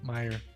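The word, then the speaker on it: Meijer: Oh, just Meyer, the J silent? Meyer. Yeah, the J is silent.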